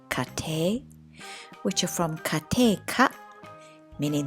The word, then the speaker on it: 家庭: write the two characters which are read kate which are from kate